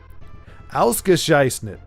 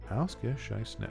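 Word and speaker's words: ausgezeichnet: Ausgescheißnet. Right? Is that right? Ausgescheißnet? Ausgescheißnet. Now let's see. Excellent. So that's 3 syllables in English. Ausgescheißnet. Only 4 in.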